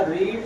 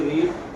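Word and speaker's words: read: Have लगा, और दूसरा रीड जो है ना, फर्स्ट सेकंड थर्ड तीनों फॉर्मेट में एक जैसा ही रहेगा, क्योंकि रीड, रेड, रीड होता है, लेकिन स्पेलिंग तीनों फॉर्मेट में एक जैसा लिखा जाता है।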